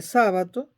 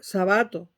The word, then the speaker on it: Sábato: Leo el túnel de sábato sabato en general pero sabato así se pronuncia no es una palabra esdrújula pero en Venezuela la convirtieron en esdrújula y todo el mundo dice sábato Entonces voy como todavía